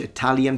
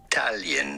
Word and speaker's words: Italia: You do want to emphasize and accentuate the middle syllable, the ta syllable. Italia. No, no one says Italia, it's Italia, Italia. Yes, it's stressed, but that's too much. Like literally, no one speaks like that in Italy.